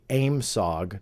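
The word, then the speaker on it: AOIMSG: the aoi msg or how they pronounced it phonetically aimsog don't ask me why during the uap hearings they refer to it as aimsog that essentially was a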